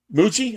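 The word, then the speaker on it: Mougey: Um I don't know how you pronounce his name. Mug. Darren Mugi. Mug. Mugi. Moo. Muji. Muji.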